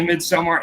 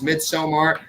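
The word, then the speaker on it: Midsommar: mid-summer and then like some people would say mid somewhere now everybody has accepted the proper way to say it is midsomar the proper way to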